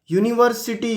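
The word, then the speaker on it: university: ये शुरू तो यू से हो रहा है लेकिन साउंड क्या है? य वोवल साउंड नहीं है, कॉन्सोनेंट साउंड है, इसीलिए हम ए यूनिवर्सिटी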